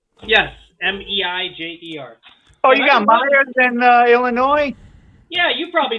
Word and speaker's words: Meijer: Yeah, got it at the Myers store that we have here. How fitting, but it's spelled differently. Yes, Meijer. Oh, you got Myers in Illinois?